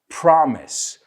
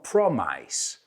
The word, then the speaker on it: promise: Y ojo con esta palabra, promise, no promice. Promise.